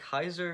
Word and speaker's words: Caesar: Fun fact, Kaiser is the correct pronunciation of the Roman word Caesar, simply meaning emperor.